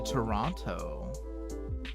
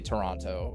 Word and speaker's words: Toronto: Yeah, I'm pretty sure it's okay to say Toronto, but Jackie has told me that you don't pronounce the second T.